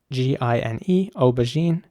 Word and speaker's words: aubergine: So in British English, the word is aubergine, which is spelled A-U-B-E-R-G-I-N-E, aubergine. And here it's important to pronounce the J, the G letter like a J, aubergine.